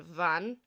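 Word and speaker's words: bhean: you but for example BH is pronounced like V so on Van on Van meaning the woman and MH pronounce like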